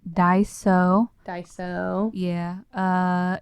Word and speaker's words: Daiso: It's Daiso.